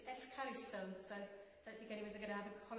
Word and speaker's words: ευχαριστώ: to say thank you in Greek, but it's ευχαριστώ, so don't think anyone's going to have a holiday in Greece very soon, but it's one for the future anyway.